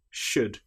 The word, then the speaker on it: should: Another time when the letter L is not pronounced is when we have the letters U, L, D. For example, the word would, could, should. In these cases, again, the L is completely silent.